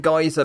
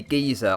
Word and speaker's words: geyser: over there but yes in my own country the united kingdom we do actually say giza anyway let's get back